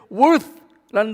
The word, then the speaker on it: worth: 이 worship이라는 단어는 두 가지의 뜻인데요, worth라는 단어와 ship이라는 단어가 있어요. 한번 따라해 보세요. worth. 이 th는 번데기 발음으로 이 혀를 드 이에 이렇게 대고 스 이렇게 하셔야 돼요.